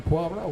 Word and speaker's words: Poirot: I said, John Poirot. When he goes after the tournament, he says, "You're the first guy that's ever pronounced my name properly." He says, "I know who Hercule is."